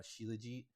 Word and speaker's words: Shilajit: it, and I did get a few different pronunciations of this. I think most of them landed on Shilajit, so that's what I'm going with.